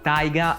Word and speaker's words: Taiga: Taiga è come i giapponesi pronunciano tiger, mentre Ryu di Ryuji significa drago.